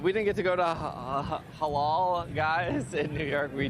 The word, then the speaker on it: halal: Halal. Is that how you say it? Halal.